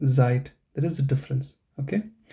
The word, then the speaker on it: Zeit: you have this site and then you have zeit in the beginning you might pronounce them like as I mean the pronunciation